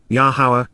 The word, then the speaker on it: Yahowah: For this reason, therefore, Lacan, as a result, thus says, Koamar, here is what is being said now by Yahowah, Yahowah, the proper pronunciation of Yahovah, our Eloah, God as